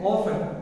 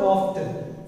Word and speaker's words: often: How do you say often? Not often. Some of you read it as often, but it is not often, it's often.